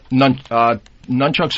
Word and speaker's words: nunchucks: Nunchucks or tabaktayok.